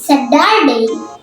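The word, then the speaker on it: Saturday: মাঝখানে হয় টি টা তখন আমেরিকানরা সেটাকে যোগ উচ্চারণ করে তাই এটা হবে সেটারে সাদারে শনিবার তো যদি ভিডিওটি আপনাদের ভালো লাগে অবশ্যই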